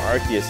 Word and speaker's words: Arceus: But Arceus.